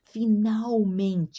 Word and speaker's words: finalmente: Então, o verbo admitir, repetindo, o diretor finalmente, ó, finalmente eu pronuncio essa L aqui diante da letra consoante, eu pronuncio uma u.